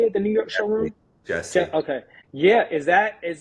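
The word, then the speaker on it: Gessi: You just recently visited I believe it was Is it Gassie? How do you say it? Say it the New York showroom. Jessie.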